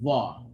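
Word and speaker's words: ظ: So like the letter Dha, the tongue should come out slightly when pronouncing Dha. Not too much, but the tongue will slightly, just very little, it will be a bit outside of the mouth, just very little when you're pronouncing the actual letter Dha.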